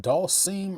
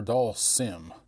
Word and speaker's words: Dhalsim: stuff out there now is it doll seim or doll Sim which is it how do you guys pronounce it I say doll Sim but I'm from the south and every vow has a long sound down here so I